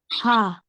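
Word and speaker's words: ح: Ha. Ha. So like instead of you blocking the passage of the air from the throat, you're letting it go, right?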